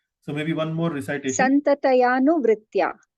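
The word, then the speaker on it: संततयानुवृत्त्या: Santatayanu vritya. So you took a little more time. Santataya anu. You mentioned Santataya anuvrittaya. Yes, Prabhu. So that has to be pronounced as Santatayanu, not Anuvritya, Santatayanu.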